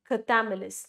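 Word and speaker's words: Chthamalus: Cthamelis, that's how it's pronounced, but it's very difficult for me to pronounce it.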